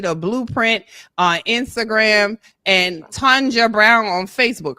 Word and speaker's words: Tanja: This is TT the Blueprint on Instagram and Tanja Brown on Facebook, right? Yep, it's Tanja Brown on Facebook. Tonja. It's really pronounced Tanya Brown.